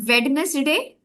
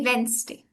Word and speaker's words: Wednesday: and uh most people pronounce it as Vness day which is actually wrong because the D is supposed to be silent and it's and it's supposed to be Wednesday.